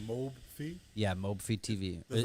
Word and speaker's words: Mobfi: i so back up real quick so it's pronounced mobe fee yeah mobe feed tv did that stand for